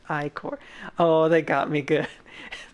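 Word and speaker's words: ichor: fill it with magical Ecore that's pronounced iCore oh they got me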